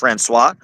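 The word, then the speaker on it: François: Masculine would be just franis. Franis. Franis. You don't even pronounce the s at the end.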